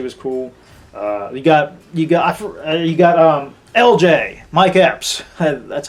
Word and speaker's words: Mike Epps: You got LJ, Mike Epps. That's how you pronounce his name.